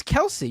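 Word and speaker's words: Kelce: nothing they yeah they are uh no it's Kelsey you're wrong buddy it's Kelsey it's Kelsey the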